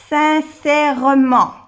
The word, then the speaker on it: sincèrement: Sincèrement. Sincèrement. Élève. Discrètement. O sea que aquí, sincèrement, aunque no se pronuncia mucho la E, bueno, sincèrement, sincèrement.